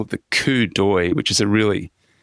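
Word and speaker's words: coup d'œil: they call it the coupi which is a really it's a French term um the spelling is absolutely bizarre compared to the pronunciation you'll see it in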